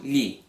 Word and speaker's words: gli: we change lo to gli. Gli. How do you pronounce this GLI? Well, the G is basically silent, and you're kind of saying li. However, you're not just saying li like that.